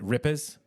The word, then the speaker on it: Rippers: JD hail JD is the founder of the ripers right is that the that's the correct way to say rippers is that uh yeah you think the Rippers